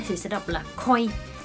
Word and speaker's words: 恋: Còn ví dụ như đứng một mình á, thì sẽ đọc là koi. Koi giống như trong cá koi vậy á.